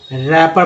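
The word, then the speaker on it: wrapper: डब्लू के बाद आर आया तो डब्लू का उच्चारण नहीं हुआ, रैपर पढ़ेंगे।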